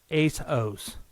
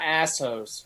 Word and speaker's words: ASOS: It's pronounced ASOS. ASOS. Oh, ASOS. Yeah. Not assos. I thought it was assos.